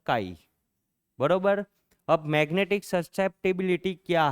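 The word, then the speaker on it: χ: से किससे डिनोट करेंगे इट इज a Greek letter pronounce as अ काई बरोबर अब मैग्नेटिक ससेप्टिबिलिटी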